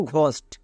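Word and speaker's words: ghost: জিএইচ দেখতে পাই, তখন জিএইচ এর জন্য ঘো উচ্চারণ করব। যেমন দেখো ঘোস্ট, এখানে ঘো শব্দের শুরুতেই আছে, তার মানে আমি কি বলেছিলাম, শব্দের শুরুতে এবং মাঝে থাকলে ঘোয়ের জন্য জিএইচ হই।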